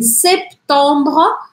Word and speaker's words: septembre: Mai, juin, juillet, août, septembre, três sílabas, septembre, octobre, novembre, décembre.